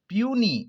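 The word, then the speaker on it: puisne: formally notified as senior पूनी इसका pronunciation होगा पूनी साइलेंट है ज आफ्टर चीफ जस्टिस आमिर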